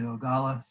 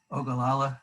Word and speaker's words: Ogallala: water out of the ogalla ogallala i'm sorry i pronounced that wrong water aquifer and that's